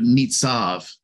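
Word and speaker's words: נצב: I love this word stands firm because it's the Hebrew word nitzav. Nitzav, and it's spelled Nun, Zadi, and Beit. In this case, the Beit has a V sound because Beit has two different sounds, a B and a V sound.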